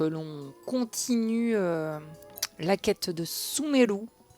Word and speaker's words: Sumeru: Je vous propose que l'on continue la quête de Sumeru. Que je prononce toujours à la japonaise, mais en vrai, j'en sais rien.